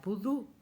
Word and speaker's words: pudú: Ahí está la palabra pudú. Y tiene dos sílabas, pudú. Y tiene una tilde porque ahí se marca ¿cierto? El acento de la palabra pudú, si no diría pudú.